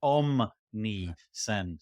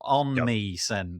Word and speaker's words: Omnisend: never spell it right I always put an N where an M should be but it's om meend not on meend which is what my fingers do every time omnisend doc om ni